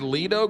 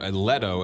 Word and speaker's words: Leto: to play this role Jared Leto or Leto as you pronounce it wrongly he's one of those